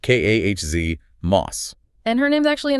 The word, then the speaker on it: KOS-MOS: First up, KOS-MOS, pronounced KAHZ-MOS.